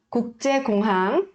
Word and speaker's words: 국제공항: Aqui, esta primeira sílaba e a terceira e a quarta sílaba tem 받침. 받침 são as consoantes que vêm abaixo. Então, ouça bem e aí repita comigo, tá? 국제공항. 국제공항, 국제공항.